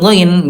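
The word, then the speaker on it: غين: Ayah bunda cara pengucapannya yaitu ayah bunda ekor lidah ayah bunda disentuhkan dengan lak-lakan. Nah, di sini. Ayah bunda ya. Jadi bunda hati-hati, huruf ghain jangan disamakan dengan huruf G kita ya.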